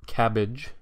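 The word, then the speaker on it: CABG: to show you that coronary artery bypass grafts or cabbage as the acronym sort of allows us to pronounce it cabbage is is really only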